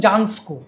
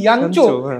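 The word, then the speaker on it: Jancsó: জানতাম না, মিক্লোস ইয়ানচো, তাকে আমরা বলতাম জানস্কো, কারণ JANSCO, তার যে পদবীর আসল উচ্চারণ ইয়ানচো, আমরা অনেক পরে জেনেছি।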